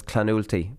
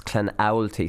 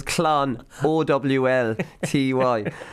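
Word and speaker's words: Clonoulty: Now, I've got a lot of people tweeting me recently, Canalty Rossmore, about my pronunciation, so I messed up. I was Clanulty, but it's Clanowlty, so they are actually breaking it down into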